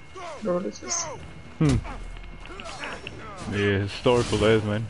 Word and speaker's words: Herodotus: don't know how to say his name, but Herodotus? Oh, Herodotus, yep. See, I kind of knew who he was. I was like, maybe it's not him, like, maybe it's just a different, like, Herodotus.